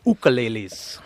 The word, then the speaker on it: ukulele: In Hawaii, we call them ukuleles. Ah, I'm pronouncing it wrong.